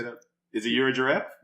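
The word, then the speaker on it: Yirgacheffe: Is it Euro giraffe? Yerga Chepe.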